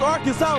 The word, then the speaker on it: Arkansas: I got that wood, and that's how you pronounce it. Ain't Arkan. It's Arkansas, baby.